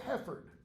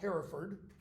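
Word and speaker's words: Hereford: too Henry Bowling Brook Duke of heord not Herford that middle gets elited Duke of heord later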